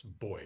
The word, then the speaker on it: buoy: bob I'll do a buoy which in the okay they pronounce boy which dists me it's my Canadian accent I apologize um the